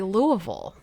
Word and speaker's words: Louisville: give you a tip the locals say Louisville you say it like you're just so put out with did jealously where she's from I don't remember okay I think she did I think she said Illinois okay but yeah I don't have the transcript in front of me um but yeah you have to say it like you're just really lazy and put out with the world I'm going to Louisville